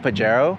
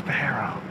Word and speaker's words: Pajero: It's already crazy enough that you have Evo Pajero.